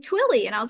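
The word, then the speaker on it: Twilley: l l y um I thought it was twily for a long time and then someone else pronounced it and they were like twilly and I was like oh I knew that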